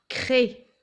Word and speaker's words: craie: Clé et craie. À chaque fois, il y a une consonne après le C. Et donc, ça se prononce que. Clé, crée.